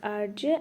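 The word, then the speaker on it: Hergé: whose pen name was RJ, and he was just known for by his pen name only, RJ, which is the French pronunciation of the reverse of his initial, and he was well known for creating the Adventure of Tintin.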